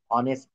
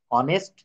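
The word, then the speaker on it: honest: পূর্বে এ না এন যেমন হি is dash অনেস্ট ম্যান হি is dash অনেস্ট ম্যান এগুলো স্যার যখন ফ্রি ক্লাস নিয়েছিল তখন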